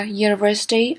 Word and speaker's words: university: Ví dụ như a university or uniform. Bởi vì ở đây chữ u không có đọc thành âm u.